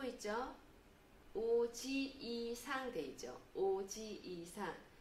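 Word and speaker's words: おじいさん: 오지이상 되죠. 오지이상. 같은 이 발음 나는 게 두 개 이렇게 있죠. 그러면 오지이상, 오지이상. 길게 발음합니다. 오지상이 아니고 오지이상.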